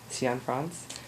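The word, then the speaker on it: Cianfrance: um I read that the director uh Derek cion France um did I say it right yes you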